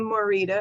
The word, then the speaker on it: Morita: so i'm glad you're here welcome morita am i pronouncing your last name right yeah that's correct